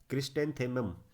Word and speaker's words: क्रिस्टेंथेमम: इसका नाम है क्रिस्टेंथेमम, यानी कि ये देखिए क्रिस्टेंथेमम, ऐसे पढ़ेंगे आप इसको। अलग अलग तीन तीन पार्ट्स में बांटिए इसे। ये है क्रिस, ये है टेंथेमम, क्रिस्टे क्रिस्टेंथेमम।